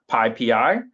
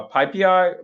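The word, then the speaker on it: PyPI: Um they get mad by the way if you say pi pi. Uh so you know it's tempting to say it's spelled py pi. It's tempting to say pi pi but you want to say pippi.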